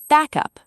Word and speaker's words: backup: Now, squeeze it into one word, back up, stress on back.